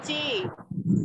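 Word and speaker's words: Qi: nadi, meracau, gangguan nadi, ki lambung berbalik Ci. arah. Ayo Ki, bacanya Ci. Ki, oh ya. Ci, Ki lambung. Ci, bacanya Ci.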